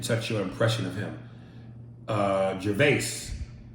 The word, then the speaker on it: Gervais: Gervais, pronounced like Ricky Gervais, but the S is silent.